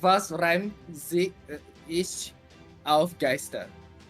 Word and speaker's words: Geister: The last one is pronounced Geister, no?